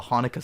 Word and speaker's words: Hanukkah: When I switched to the radio, it was the very beginning of the Hanukkah song by Adam It's the Sandler. Hanukkah song. You pronounce it Hanukkah, dude.